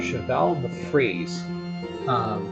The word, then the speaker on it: cheval de frise: So, and I was corrected on the spelling of the pronunciation of this by my little brother. They call it Cheval de Frise.